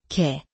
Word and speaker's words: 개: 개 개 개는 비슷하게 들리지만 공기의 양이 달라요. 개는 편안하게 개는 공기를 강하게 터뜨리고 깨는 목에 힘을 주어 단단하게 낸답니다.